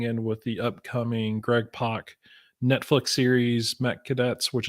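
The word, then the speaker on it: Pak: name correctly who Greg Park Mr Fox yes yeah I cringe when I hear all those people pronounce it pack pack Greg pack Greg pack it's like uh no it's not but okay I have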